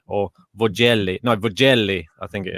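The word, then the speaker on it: Vögele: get the pronunciation right i keep calling it virgelli i think it's vogelli or vogeli no bugelli i think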